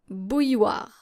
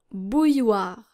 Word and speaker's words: bouilloire: And it's quite challenging because, well, once again, we see our I and then double L here and then an OI. And we automatically think that there are silent letters, but you might not know which ones. And I'm here to tell you which ones. Une bouilloire. Une bouilloire. And this is how you're supposed to pronounce it.